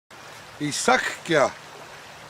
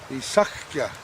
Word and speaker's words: Isakuya: Isakuya, that's my Blackfeet name. And it means holy paint gatherer, sacred holy paint gatherer. You spell it, Isakuya.